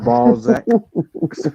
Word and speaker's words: Balzac: yeah, yeah, it's pronounced Balzac.